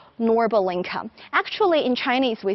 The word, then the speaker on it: Norbulingka: showing you this lovely park which we call norbal inca actually in chinese we say lua bulingka or